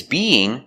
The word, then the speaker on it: being: We have two vowels together, being. We have the y sound in the middle to connect the vowels.